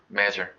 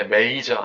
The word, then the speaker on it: measure: measure. 측정하다, 재다. measure. 발음이 measure야 절대 major 아니야.